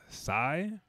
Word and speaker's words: Sy: Starring Omar Sy, I do believe is how you say the name, a wonderful French actor.